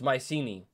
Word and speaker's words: Mycenae: how to pronounce things pronunciation mycenae oh it's mycini mycini dude hella fine